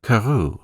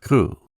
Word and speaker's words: Crewe: Madame Pascal pronounced it as if it were Carew instead of Crew. But that might be merely a matter of pronunciation.